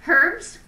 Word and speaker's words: herbs: If you pronounce the H in, in herbs, I got a baseball bat.